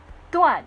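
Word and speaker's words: 段: So as you guys know, like, Mark's last name is Mark Tuan, right? But actually, to be honest, it's actually Mark Duan with a D, not a T.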